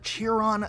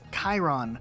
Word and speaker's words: Chiron: pronounce this one as cheerin but it's actually pronounced Chiron which is a word that comes from Greek mythology now this word on